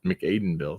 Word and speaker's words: McAdenville: City USA and McAdenville McAdenville thank you I'm that's how I would pronounce that I was Aiden or Aden but I guess makes sense with the with the m yeah hooked on fing